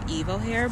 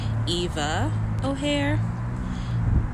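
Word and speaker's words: Eva O'Hare: wrong in the introduction I think I called her Evo hair but her name is actually Eva ohare either way I just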